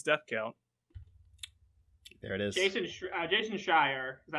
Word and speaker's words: Jason Schreier: Jason Schreier, is that how I pronounce his name?